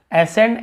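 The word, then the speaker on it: ascend: यहाँ पर भी देखिए एसेंट, एसेंट यानी होता है चढ़ाई, एसेंड, एसेंट, लेकिन यहाँ पे सी का उच्चारण कहीं पे नहीं हो रहा, हम स का उच्चारण कर रहे हैं।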